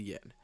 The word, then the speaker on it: yen: Japan's official currency is the yen, which is pronounced en in Japanese.